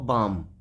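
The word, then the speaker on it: balm: एम बच्चों ये हुआ बाम ठीक है इसी तरीके से ये सी ए एल एम काम जहां एम और एल एक जगह आए वहां पर एल साइलेंट हो जाता है जैसे बाम पढ़ा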